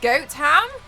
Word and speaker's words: Gotham: Instagram I'm a hoot there is a Gotham in England but they pronounce it Goat ham is there really expert